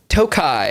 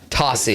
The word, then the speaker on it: Tocci: tochi yeah well yeah Tossy is what I go by technically all right curtasi yep